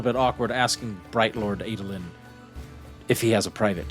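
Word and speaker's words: Adolin: But the What about the the uh uh Adelan? Uh what did you say his name was? The guy the the son the son of the prince Adelin.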